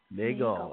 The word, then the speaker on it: Nagel: Can you give us your name so we're not pronouncing it incorrectly? It's MS Nagel. Nagel.